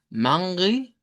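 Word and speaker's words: Manre: Y la pronunciación es con una A nasalizada, Mangri, Mangri, con una E irregular y una I al final, Mangri.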